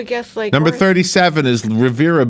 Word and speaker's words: Riviera: late number 37 is Rivera beach also known as riviera beach if you pronounce it the wrong way yes I know you can argue with me but I worked there for a while everybody corrected me when I said Riviera yes so Revere it